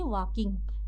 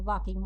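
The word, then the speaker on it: walking: के आई एन जी एल यहां पे साइलेंट है इसको हम लोग क्या पढ़ेंगे वाकिंग एल साइलेंट है वाकिंग वाकिंग मतलब होता है चलना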